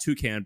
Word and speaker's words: Toucan: By the way, we should say Toucan is like the bird toucan Sam type of thing.